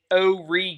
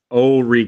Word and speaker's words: Horry: pronunciation for uh it's o ree county the h is silent oh ree county that's like my